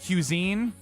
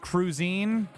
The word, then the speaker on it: cuisine: it out because when I saw it not phonetically, just reading it, there's a difference between that. I couldn't figure out the word cuisine, and then I guessed cruisine, and then you guys jokingly were like, yeah, cruisine.